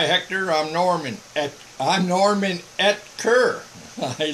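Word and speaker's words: Oetker: O-E-T-K-E-R. It's the O silent. It's pronounced Etker. It's a German name. Norman Etker. That's how you say it. Really? In Germany, there's no E and there's an umlaut over the O. It's Utker.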